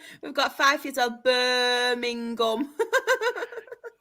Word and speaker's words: Birmingham: She just means how do you pronounce Birmingham? Birming. Birmingham. How's that? Birmingham. No. G. We've got five years old. Birmingham.